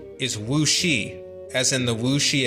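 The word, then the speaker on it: 武师: A similar term would be this, meaning martial arts master, and its pronunciation is wuxi, as in the Wu Shi Academy, the Masters of Martial Arts Academy.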